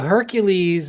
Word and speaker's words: Hercules: No, so Hercules is the Roman pronunciation of Heracles. Okay, So everyone says Hercules, but really, if you're using the Greek name, it's Heracles.